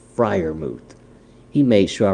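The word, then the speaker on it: Freiermuth: next titan i have i was messing up his name i butchered it so bad you would have thought i was leather face on texas chainsaw massacre i'm talking about pat friar moot i got it right now guys it's friar moot he made sure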